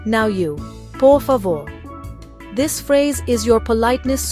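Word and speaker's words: por favor: It sounds like pavo with the emphasis on that last syllable. Listen, poor favore. Now you poor favore.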